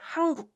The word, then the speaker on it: 한국: So this 은 sound, when combined with k sound, So 은 softens to 응 when it meets k sound. So that's why it's natural to pronounce it like 한국.